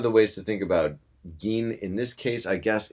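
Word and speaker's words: 銀: And remember, it's not pronounced gin. I know that looks like gin to a lot of you English speakers, but it's not. It's gin.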